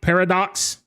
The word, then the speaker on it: Parradax: Parad Paradox Right.